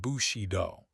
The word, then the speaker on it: Bushido: Pronounced Bushido.